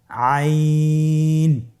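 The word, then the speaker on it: عين: আইন হরফটি উচ্চারণের সময় অবশ্যই তিন আলিফ টেনে পড়তে হবে। এখন আইন হরফটি বারিক হরফ। পাতলা করে পড়তে হবে। আপনার আমার সাথে বলুন আইন।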